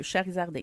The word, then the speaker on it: Charizarding: Vraiment comme ça se prononce, là, avec un Z au milieu, Charizarding.